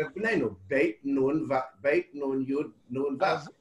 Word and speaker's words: בני: כשכתוב בני ישראל, כתוב בני עם יוד, ורוב העולם חושב שצריך לבטא את היוד. האמת שלא מבטאים את היוד, זאת יוד שקטה. צריך להגיד בני...